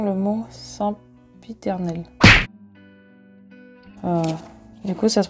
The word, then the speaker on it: sempiternel: Comment prononce-t-on le mot sempiternel?